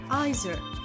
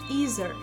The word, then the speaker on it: either: British English typically pronounces the I sound, neither, either. For example, I don't like coffee, neither do I. You can have cake either now or later. American English typically pronounces the E sound, neither, either, like in